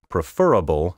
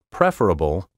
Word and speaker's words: preferable: Influence, exquisite, preferable, and all the rest are either trendy or flat out wrong. The traditional and preferred pronunciations are influence, affluent, superfluous, preferable, comparable, formidable, integral, hospitable, applicable, and exquisite.